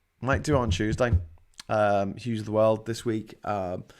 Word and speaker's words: Hughes: That's what you want, or just Hughes, because I'm Hughes, and it rhymes with news, and that's a pun that I will never fail of making things of.